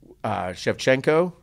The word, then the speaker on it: Shevchenko: And Shevchenko, is that how you say her name?